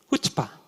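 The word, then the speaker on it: chutzpah: 히브리어는 앞에 C가 나오면 무조건 묵음이에요. 그럼 발음이 어떻게 됩니까? 후츠파.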